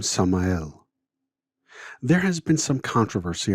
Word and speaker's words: Samael: In Hebrew, the name Samael is spelled Samech Mem Aleph Lamed, from right to left. The first two letters are Samech and Mem, making the sound Sum.